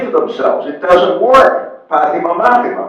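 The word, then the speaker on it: πάθημα: Pathima, Mathima. It rhymes.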